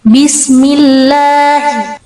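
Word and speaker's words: بسم الله: Jadi bacanya seperti ini. Bismillahi jangan terlalu di tekankan tasdidnya. Bismillah seperti itu jangan. Kemudian kadang ada yang merubah tasydid malah menjadi mad atau dipanjangkan. Mungkin gambaran bacanya seperti ini. Bismillahi. Pernah dengar apa tidak?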